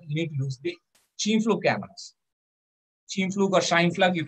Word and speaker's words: Scheimpflug: need to use the Cheam-Fluke cameras. Cheam-Fluke or Scheimpflug, you can pronounce it whatever way you want. What I found out is German correct pronunciation is Cheam-Fluke.